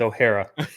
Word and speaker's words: O'Hara: It's O'Hara. It's O'Hara. You put a little twist on it, and I liked it, but O'Hara.